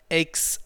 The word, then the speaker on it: aches: they've exercised a lot this word is pronounced aches like takes or makes okay so she takes her time she bakes bread he makes lunch okay so that's pronounced aches aches and becomes compressed together